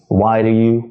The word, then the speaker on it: Why do you: So it's got 3 syllables. And it's the middle syllable which doesn't have stress because it's the first syllable which has stress, right?